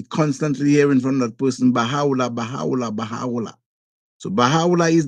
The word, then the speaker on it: Baha'u'llah: And then we have Mirza, how it is pronounced, known as Baha'u'llah. So you might hear speaking to a person from the Baha'i faith, you might be constantly hearing from that person, Baha'u'llah, Baha'u'llah, Baha'u'llah.